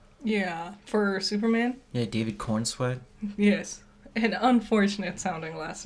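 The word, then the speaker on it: Corenswet: And that I was telling you, Gunn's plan, he casted Cornsweat. Yeah, for Superman? Yeah, David Cornsweat. Yes. An unfortunate sounding last name. It's not spelled like that, though.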